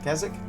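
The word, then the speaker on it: Kazyk: We're going to occupy this tower for and that's going to give us our first chieftain, which is uh Kasak. Kazix.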